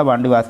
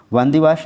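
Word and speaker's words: Wandiwash: वांडीवास की लड़ाई और तीसरे कर्नाटक युद्ध का भी यह हिस्सा रहा है। यह तमिलनाडु के वांदीवास या वांडीवास अंग्रेजी उच्चारण है इसका।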